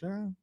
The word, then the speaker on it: Ja: Charles Barkley said Ja Morant. Is it Ja?